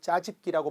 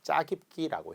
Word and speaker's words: 짜깁기: 평소에 여러분이 발음을 잘해야 돼. 놀랍게도 아직도 짜집기라고 말하시는 분들이 많습니다. 정확하게 짜깁기라고 해야 되겠죠.